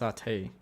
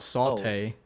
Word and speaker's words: sate: sate, S-A-T-E, but I think it's pronounced satay, not saute.